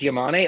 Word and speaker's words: Yamane: say your last name is it y or it's yamane okay so in my head I was saying it right so I you know I could say it like a Yankee and be like oh we got a David yain out here um but no we